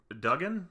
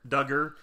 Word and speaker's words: Duggar: And you heard firsthand from some of it, like Jill Duggan? Is that how you say it? Duggar.